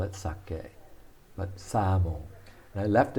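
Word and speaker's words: 鮭: daikon and this is sake sake pronounced like the japanese wine but it simply means salmon this is looks like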